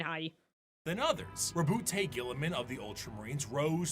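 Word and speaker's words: Roboute: Rabute Gilliman? Rabute. Gilliman. Yeah. You're a professional streamer. Yeah, I totally have not been streaming for like 8 years. Don't look at me. Texman? Robute. Oh, it's spelled incorrectly?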